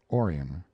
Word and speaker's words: Orion: born they named him Orion after the constellation perhaps though they changed the accent to the first syllable calling it Orion Gainsborough was a small